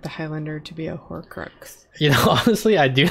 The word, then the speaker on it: Horcrux: How do you pronounce it? Horcrux? Horcrux? Horcrux, yeah.